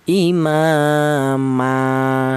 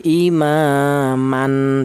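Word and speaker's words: إمامًا: Imama seperti itu. Tidak boleh imaman tidak boleh.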